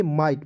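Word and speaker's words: might: मैंने बताया दोस्तों कि किसी भी वर्ड्स के अंतिम में आई जी एस टी जब भी दिखेगा इसका उच्चारण आइट के रूप में ही करना है। ठीक है, तो क्या हो जाएगा दोस्तों, आइट। तो एम आई जी एस टी क्या पढ़ेंगे, माइट।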